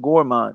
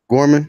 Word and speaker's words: Gorman: Kevin Johnson and uh and and Nathan Nathan gourmand what'd you call him your main Gorman Gorman gorm excuse me Gorman Gorman I know